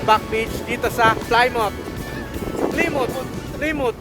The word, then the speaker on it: Plymouth: beach dito sa climout Plimotimut sa American English ang pronunciation niya is fly mouth pero dito ang pag-pronounce dito mut beach dito saut ay ang